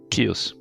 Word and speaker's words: Kyuss: I be pronouncing it kios there's no rule kios I pronounce it it's KY USS yeah Kos I was in chaos well it sounds a bit like chaos I've always thought so